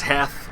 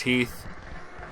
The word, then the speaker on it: Heath: I've heard his I I've heard him heard that pronounced says hath but I'm fairly certain it was Heath AG th but I can see why people pronounce it the other way Devon's gonna give me